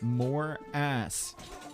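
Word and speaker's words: Morass: That's right, more ass here. But Dave, it's actually pronounced more ass.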